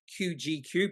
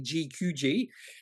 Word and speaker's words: GQG: can never get right I always want to say qgq but it's actually gqg I just wish they